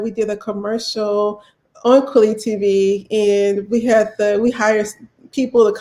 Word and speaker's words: Kweli: were being authentic to the way it's supposed to be pronounced. And so that is why I changed it to how I say it to Kweli, because I want to make sure that we're saying it correctly for our brothers and sisters who speak fluent Swahili, who are in that part of Africa.